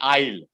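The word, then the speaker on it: aisle: is a homonym it's it's pronounced exactly the same way i'll it's the same pronunciation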